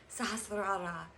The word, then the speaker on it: sahasrara: sahasrara but araras haha sahasrara it's fun if you can roll your R's but it actually means